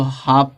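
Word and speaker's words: half: बहुत हाफ पढ़ते हैं अब देखो लास्ट में यहां पे एफ है तो एल के बाद क्या दे दिया है एफ दे दिया है है तो ल क्या हो जाएगा साइलेंट हो जाएगा तो इसको हाफ पढ़ेंगे यहां प बहुत लोग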